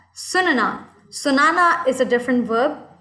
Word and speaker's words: सुनना: Now, I had trouble with the pronunciation for the next one. I was saying sunana, and I was saying mujhe sunana hai, but I don't think that was correct. And what is the correct pronunciation? Sunna.